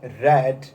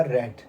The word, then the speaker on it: read: अब यहाँ पे READ का प्रोनाउंसिएशन होता है रेड, लेकिन यहाँ पर इसका प्रोनाउंसिएशन होगा रेड, क्योंकि डेफिनेटली ये सारी चीज़ें पास्ट की हैं, ये पास्ट के बारे में बात कर रहा है, 1884 के बारे में बात कर रहा है, तो डेफिनेटली यहाँ पर प्रोनाउंसिएशन इसका होगा रेड, ना कि रीड।